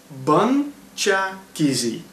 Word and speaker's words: BunChakeze: I said it wrong very easily, so let's break it down into little bits and see if you can remember it. It's BunChakeze. BunChakeze.